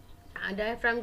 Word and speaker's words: diaphragm: ठीक है, डायफ्राम की स्पेलिंग क्या है, DIAPHRAGM, in which G is silent.